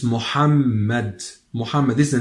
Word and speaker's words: Mohammed: Western we usually say Mohammed in the western regions in the non speaking Arabic regions we say Mohammed but in Arabic Standard Arabic it is Mohammed it's Mohammed Mohammed is the name